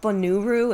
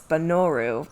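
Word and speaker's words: Bonooru: And yes, that is not Bonuru, it's Banoru. That's been confirmed by Breath of the Wild, because there's another name that's like that. That's a very Japanese way to pronounce those letters.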